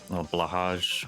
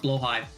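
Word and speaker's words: Blåhaj: It's actually pronounced Blowhigh. Blowhigh? Oh, okay. Yeah, I never would have guessed. I never would have guessed. I got corrected on this a couple years ago. Is that like a funny, like Swedish name? It is a funny Swedish name.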